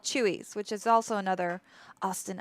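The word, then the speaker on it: Chuy's: And Chewy's, Kaiser, fun fact for you, is it's spelled CHUY''S. Got you there. Hey, Lady May. Ooh, percolating. I don't know if they do have a Chewy's.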